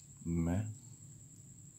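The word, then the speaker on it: मैं: Pronunciation. Main.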